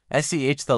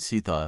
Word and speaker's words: Sethe: There are actually two common pronunciations. SEH-thuh like Beth with an S sound, SEE-thuh a variation some people use, though less common. The pronunciation that Toni Morrison confirmed is SEH-thuh rhymes with Beth-uh. Let's break it down. SEH, like the beginning of seventh-thuh, like the thuh sound in mother.